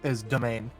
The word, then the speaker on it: demesne: By the way, the way you pronounce that, funnily enough, is domain.